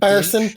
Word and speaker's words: Fersen: So Kyle Fersen, I believe is how it's pronounced. Fersen. We say it like Fersen. It sounds like an Irish accent.